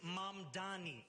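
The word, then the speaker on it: Mamdani: And furthermore, the name is Mom Dani. M A M D A N I.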